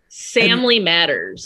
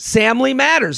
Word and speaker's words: Samly Matters: Samly Matters. Samly Matters. Okay, so that's like Family Matters.